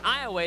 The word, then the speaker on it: Iowa: And again, this Iowa team, it's pronounced Iowa. It's spelled Iowa, but it's pronounced Iowa.